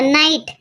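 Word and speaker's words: knight: ते लेटर तिथे असते आता नाईट नाईट मध्ये के आपण उच्चारत नाही पण तरी तो के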